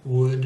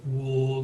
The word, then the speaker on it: would: related to each other could would and should it's not cooled wool that should could would